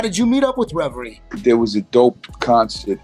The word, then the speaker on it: Reverie: got also is it is it is it pronounced reverie is that what she goes by yeah reverie she they're both two west coast emcees iphone